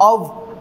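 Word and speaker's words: of: फेर ब्रिज ऑ ऑ इसमें फ वाली साउंड को प्रोनाउंस नहीं किया जाता है नहीं होता है अव अव अव होता है इसका प्रोनंसिएशन ऑफ नहीं होता अव फे फेय में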